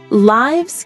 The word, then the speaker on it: lives: When it's the plural of life, it's pronounced like wives with a long i sound.